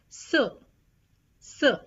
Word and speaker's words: ce: singular then you put c e c e pronounced as s s and if the masculine